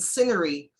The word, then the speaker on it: scenery: oh oh oh and scenery the silent c okay so when you